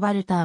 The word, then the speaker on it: Walther: を行ってきたなお生のヴァルターはドイツ語でバルカーのように発音され日本でもそう表記